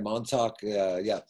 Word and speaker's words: Montauk: And sorry if I mispronounced this. Montauk Salvage Company. Did I say that right? Yeah, that's right. Montauk.